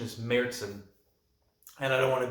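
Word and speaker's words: Märzen: brewery it's a merzin a lot of people pronounce this beer marzin or martin the actual pronunciation is mertzen and i don't want to be that guy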